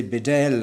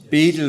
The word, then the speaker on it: Bedell: Uh Bishop William I always say Bedell I but Beedle is probably the correct pronunciation but um anyway I'm such a habit now saying Bedell.